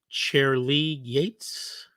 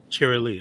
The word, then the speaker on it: Cherry Lee: Is it Chair Lee Yates? Am I pronouncing that right, Miss Yates? It's Charlie. Cherry. Charlie. Cherry Lee.